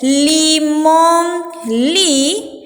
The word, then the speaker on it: limón: Sonido de la N y lleva acento en la O. Limón. Para que yo pueda decir limón. Si no le pongo el acento va a decir limón. Yo no puedo decir limón, tengo que decir limón.